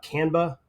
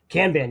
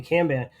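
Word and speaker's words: kanban: use more of a Cana I think it's Cana right is that how you pronounce it um view where it's more cards can ban yeah excuse me can ban where it's more columns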